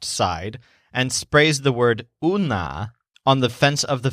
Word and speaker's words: un: It sounds kind of like the English word one, but it's pronounced un.